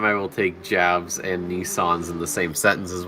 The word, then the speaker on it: Nissan: the same sentence is when you guys call it a Nissen when it's a Nissan so it's a Nissan I just heard you say Nissan ask the Japanese ask them how they pronounce it if they say Nissen I'll say Nissen but from now it's Nissan it's always Nissan don't you guys just